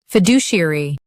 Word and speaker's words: fiduciary: US says do, UK says deju.